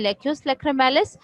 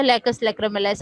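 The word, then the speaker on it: lacus lacrimalis: Ball से by small space, जिसे कहते हैं लेक्यूस लैक्रिमैलिस या लेकस लैक्रिमैलिस। आप प्रोनाउंसिएशन देख लें, हर डिफरेंट कुछ उसमें कह देते हैं लेक्यूस लैक्रिमैलिस जो है।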